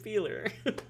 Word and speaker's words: Feler: guy named dick feler he pronounced it feeler that's that's how I